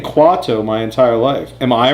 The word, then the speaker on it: Quato: Kwato. It's not Kawato. Kawato would be like Q-U... I don't even know. Q-U-A-W... I don't know. Not K-U. It's Kwato. I mean, am I wrong? Have I been saying it? The guy whose belly Quato's in says Quato.